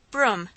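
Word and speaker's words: brougham: dreadful thing of all broom pronounced the teacher and i began mentally b-r-o-o-m but laddie spelled b-r-o-u-g-h-a-m and i stared at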